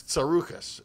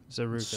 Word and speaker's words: Tsarouchas: I'm Greek. I didn't change my name. It's Tsarouchas. Nobody can. Tsarouchas. Pronounce Surukas. it.